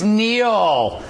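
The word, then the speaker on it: Kneale: Business Network anchor denn Dennis Neil silent k there he's suffering for March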